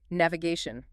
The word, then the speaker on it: navigation: And finally, navigation. You want to hit that gay sound clearly.